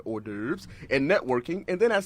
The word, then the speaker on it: hors d'oeuvres: It looks different, but hors d'oeuvres and networking.